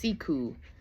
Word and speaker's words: siku: So like siku, s i ku is pronounced secu.